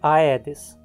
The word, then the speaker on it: Aedes: pronúncia vai ser assim em praticamente todos os outros casos já é que você encontrar a pronúncia adequada é como é então vamos em frente